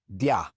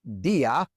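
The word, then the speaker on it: día: If it didn't have the accent mark, it would be dy. But it's not dy, it's dia. And so we have to write the accent mark above the i.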